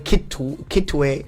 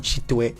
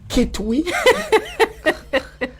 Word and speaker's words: Kitwe: Yeah, I mean, even the Kitwe is mispronounced from Chitwe. Yeah. But I mean, since it's now on every piece of paper, it's now the name of the thing because the white man couldn't pronounce Chitwe and became Kitwe. Please don't turn it to Kitwi.